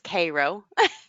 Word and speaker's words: Cairo: Cairo in Illinois is Cairo okay a lot of names Cairo is Karo syrup Karo syrup yeah like